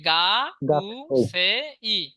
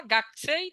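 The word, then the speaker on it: 学生: যদি শব্দের মাঝে বসে কু যদি শব্দের মাঝে বসে তখন ক উচ্চারণ করলেও ভুল হবে না আবার আপনি চাইলে কু উচ্চারণ করতে পারেন যদি আপনি বলেন গাকু সেই তাও ভুল হবে না গাকছেই তাও ভুল হবে না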